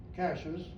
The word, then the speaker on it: Cashiers: And then finally, it was still pronounced Cashers. Spelling was corrected in 1875. Wow. Still pronounced Cashers. And guess what it is now? Valley's been dropped, but it's called Cashers. It only took me 4 years to learn how to say it.